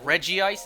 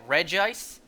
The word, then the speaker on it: Regice: The anime said Regice and Regice.